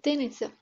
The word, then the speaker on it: Тенец: него заедно с молбата, да произнесаме правилно името му, като поставяме ударението на последната сричка – тенец.